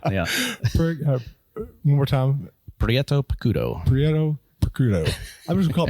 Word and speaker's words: Prieto Picudo: I still can't pronounce enunciate it. Prieto It's hard to say, too. Uh Prieto Picudo. Prieto Picudo. Yeah. Yeah. Prieto Picudo.